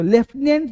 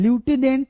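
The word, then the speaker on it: lieutenant: ठीक है, तो लेफ्टिनेंट जो वर्ड इसका साउंड होता है लेफ्टिनेंट, लेफ्टिनेंट, लेकिन ल्यूटिनेंट नहीं बोलते मेरे दोस्त, ल्यूटिनेंट नहीं बोलते हैं, लेफ्टिनेंट बोलते हैं।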